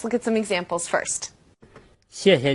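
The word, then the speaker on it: 谢谢: And if you were to say 谢谢 or 客气 as two definite fourth tones, people would still have no problem understanding what you're saying.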